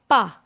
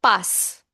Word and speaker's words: pas: Ne is pronounced as ne before the verb, and pas is pronounced as pa, not pass.